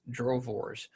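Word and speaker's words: droëwors: our drove wars it's spelled d-r-o-e-w-o-r-s but it's pronounced drovors it is a south african beef stick my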